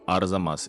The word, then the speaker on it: Arzamas: of Arzamas, which I had so much trouble pronouncing, but now I got it. So Arzamas, it's easy now.